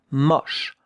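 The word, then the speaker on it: moche: Look at how to write it. M O CH that uh two letters make the sound sh. It's not. No, it's mush. More open. The O mush.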